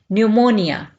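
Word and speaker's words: pneumonia: जाता है न्यूमोनिया न्यूमोनिया यहां पर पी जो है यह साइलेंट होगा इसको नहीं पढ़ा जाएगा न्यूमोनिया नेक्स्ट है जिल्द की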